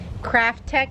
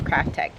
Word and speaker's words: Kraftek: a handheld pool vacuum crafttech is the name I often times mispronounce these but you see how it's spelled k r a f t e k so one would think it's crafttech but anyways they sent